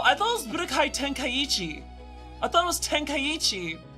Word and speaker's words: Tenkaichi: It is Tenkaichi, and I pronounced it right!